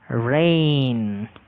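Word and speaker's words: reign: Next আরইজিএন উচ্চারণটা রেইন।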